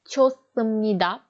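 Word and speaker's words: 좋습니다: Çosumnida. Burada da neydi? H'den sonra S gelmiş. O yüzden bu. Çosumnida.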